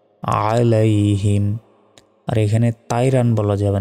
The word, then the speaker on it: عليهم: দেখুন, আলাইহিম যদি বলি এখানে আইনের জায়গায় আলিফের উচ্চারণ করে ফেললাম, তখন তো আমাদের ভুল হবে। এখানে আছে আইন, আইন জবর হয় আ, গলায় চাপ দিয়ে আইন অক্ষর উচ্চারণ করতে হয়, আলাইহিম।